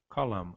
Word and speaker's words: column: Já o inglês ocorre o contrário, permanece o MN, mas nós pronunciamos somente calam, o M. O N existe graficamente, mas não é pronunciado.